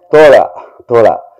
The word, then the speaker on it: தோழா: The pronunciation? Thola.